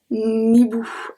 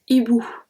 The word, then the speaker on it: hibou: So you see that I don't say un hibou. Nibou. I don't say that. I say un hibou.